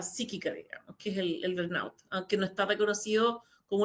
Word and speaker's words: burnout: Esa es básicamente como la historia, digamos, del burnout.